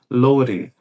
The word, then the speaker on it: loading: som de D e ficasse como se fosse com o som do nosso R fraco aqui no português. É como se ficasse assim, ó. Loading. Loading. Loading program.